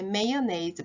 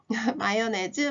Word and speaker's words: mayonnaise: 그때 메이어네이즈 발음도 알게 됐죠? 마요네즈 마가린 아니고요.